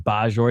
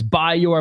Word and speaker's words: Bajor: I keep saying Bajor. It's Bayor.